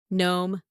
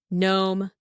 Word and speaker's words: gnome: now long vowel here gnome gnome silent letter G if there is n over there 18 18 do you